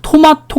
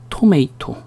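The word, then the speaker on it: tomato: 토마토 그러죠. 토마토. 이제는 토마토가 틀린 발음이라는 거 알겠죠? 그렇죠. 뒤에 자음 하나, 모음 하나. 어떻게 발음해? 토메이토. 미국식으로 발음할 때는 T가 이렇게 중간에 있으면 약간 좀 살짝 죽여주죠.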